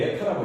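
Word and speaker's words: η: 요거 여기는 나중에 에타 값을 이렇게 해서 우리 에타라고 읽어요.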